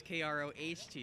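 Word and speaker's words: Kroto: it says Cochran it's kr OTO it's K roh to you oh so how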